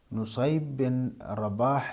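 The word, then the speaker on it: نصيب بن رباح: میں وفات پائی ہے۔ نصیب بن رباح یہ اصل ان کا تلفظ ہے، اس کو نصیب یا پڑھا جاتا ہے یا رباح پڑھا جاتا ہے، یہ رباح نہیں ہے، نصیب بن رباح ان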